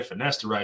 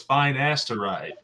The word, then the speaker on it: finasteride: is a pharmacist and when i say finasteride she was like no it's fine asteroid and i was like oh finasteride that's how you say it she's like yeah she's